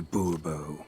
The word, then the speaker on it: Bourbeau: Fine. Monsieur de Bourbeau. The emphasis falls on the last syllable.